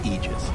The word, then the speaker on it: Aegis: that is okay so the correct pronunciation technically speaking of ages is aegis this it's a literal